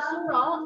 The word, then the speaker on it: suro: So the second activity is kirap, grebek suro, and mubeng benteng. Anyone who would like to learn how to pronounce it with me?